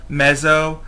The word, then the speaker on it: meso: And one thing you may not have addressed in your Social 101 course is the meso level of analysis. It's said meso. It's sometimes spelled M-E-Z-Z-O. It's sometimes spelled M-E-S-O.